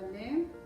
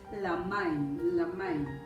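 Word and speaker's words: לַמַּיִם: Y ahorita, bueno, vamos a hacer la transliteración, si no se me olvida, lemain. La main, perdón, es la main. La pronunciación correcta es la main, y va junto, la main, y quiere decir igual aguas.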